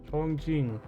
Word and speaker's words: Chongqing: It is how you pronounce it. Chongqing. Welcome to Chongqing.